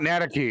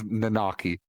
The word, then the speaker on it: Nanaki: nanaki nanaki and i hate them where you pronounce it it's not nataki it's nanaki i i i don't change his name and